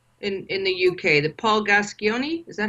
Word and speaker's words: Gascoigne: You have a footballer there in the UK, the Paul Gascoigne, is that how you pronounce his last name?